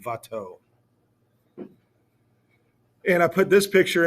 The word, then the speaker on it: Watteau: Looks like it's a W. It says Watteau. It's pronounced like a V, Watteau.